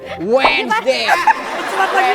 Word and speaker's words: Wednesday: H enggak. D hilangin dari peradaban terus S di sini. Wednesday Wednesdayat lagi pakai Z luat ya.